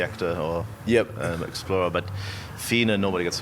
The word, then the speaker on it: Fiene: It's pronounced Fiene, and I would not have got that.